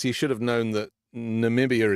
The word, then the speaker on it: Namibia: should have known that Namibia is not pronounced nambia for a start I